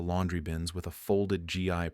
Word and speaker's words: gi: Dalton knelt near the laundry bins with a folded GI pronounced gi resting on her lap.